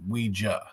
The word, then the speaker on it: Ouija: question I get and the brand itself is pronounced Ouija. But you're not wrong if you say Ouija because if you ask someone if they use the board you would ask them to say Ouija. So ouiji is the verb and Ouija is the noun.